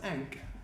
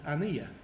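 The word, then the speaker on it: ankh: word is that but now we know more about how things were pronounced we actually know that it's actually vocalize not as ink but as Ania see that that KH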